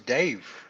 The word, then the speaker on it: Dave: My name's Dave. It rhymes with microwave.